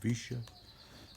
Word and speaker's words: Vicia: part to um sister vicia i think that's her the way you pronounce her name visha um she spoke at